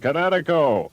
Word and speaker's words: Kinetico: Oh, East Coast son, little you should have remembered kinetic as in kinetic energy with an O on the end. Kinetico.